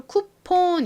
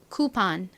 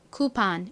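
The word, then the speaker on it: coupon: 받침이 그래서 한국식으로는이 단어를 쿠폰 이렇게 보통 표기하고 미국식 발음으로는 쿠판 쿠판 이렇게 약간 아에 가깝게 판에 가깝게 발음을 합니다이 쿠폰의 의미가 뭐였죠 바로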